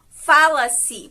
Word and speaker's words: fala-se: Por exemplo, fala-se é um verbo mais a partícula C, que está no tempo presente e que a sílaba tônica dele, né, a sílaba pronunciada de maneira mais forte, é a sílaba Fá.